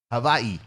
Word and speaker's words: Hawaii: but you didn't mention Hawaii or Havi as I learned on Tik Tok the other day Havi that's how you say it the I made